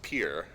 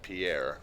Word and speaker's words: Pierre: that 8 is, and what I'm told is pronounced Pierre, South Dakota. As the uninitiated, I've always said it Pierre, like the French version of the word Peter, which is always what I kind of assumed it was based on how it